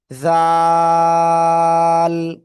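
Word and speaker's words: ذال: ওই জিহ্বার আগা উপরের দুই দাঁতের আগাই লাগাতে হবে, লাগিয়ে 3 আলিফটা নিয়ে উচ্চারণ করব। জাল, জাল। সবাই একসাথে জোরে বলেন, জাল।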